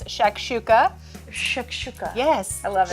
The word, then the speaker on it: shakshuka: it's easier to cook than it is to pronounce. I promise that it is. It's shakshuka.